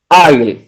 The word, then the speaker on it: aisle: Yes, it's pronounced as Isle. That is ILE is the spelling of that word I. Okay. Please repeat that. Sorry? Can you please repeat? Yeah, yes. The word AISLE is pronounced as Isle. ILE is the pronunciation.